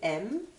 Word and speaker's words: aime: j'aime maintenant tout simplement vous pouvez prononcer tout le verbe aimer par la lettre M c'est exactement la même prononciation j'aime tu aimes regardez